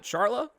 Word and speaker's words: Charla: Is it Charla? Like charlatan? Yeah.